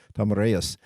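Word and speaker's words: Tomyris: tomus ruled uh she Tomas is the actually how her name is pronounced Tomas uh and uh T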